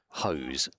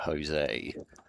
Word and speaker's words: Hose: I still can't see Adam Hose without thinking of Adam Jose. And they convinced the PA announcer at the Oval that was how it's pronounced.